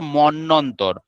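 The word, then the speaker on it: মন্বন্তর: এই দুটো ব এর পার্থক্য হচ্ছে এই অন্তস্থ বগুলো না উচ্চারণ হবে না। যেমন ধর মন্যন্তর মন্নর শব্দের মধ্যে মন্যন্তর ম দন্তন্যয়ে বয়ে দন্তন্যয়ে ত র এই মন্যন্তরে এই যে বটা রয়েছে হচ্ছে এই অন্তস্থ বটা।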